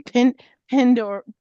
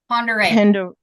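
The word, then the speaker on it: Pend Oreille: Oh gosh, I never like to try and pronounce this one. Pendoril. Okay, somebody else can pronounce this for me. Ponderay. Ponderay. Oh my gosh.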